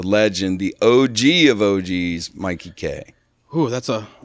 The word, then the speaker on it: Mikey Kay: it's my Mikey K Mikey so it's not making it's not Mickey you don't know it's be no it's because you're Canadian so you don't know how to say my name but I love